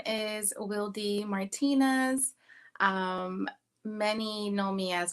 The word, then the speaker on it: Wildy: Some people pronounce it as Wildy, but I am Dominican American, and my name is pronounced in Spanish.